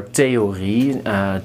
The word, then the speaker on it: theorie: So just pronounce it as a T.